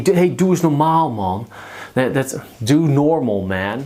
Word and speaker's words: normaal: Normaal sounds a lot like normal, but you put the emphasis on the last syllable. Normaal.